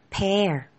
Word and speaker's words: pear: 이렇게 발음이 된답니다. Pair.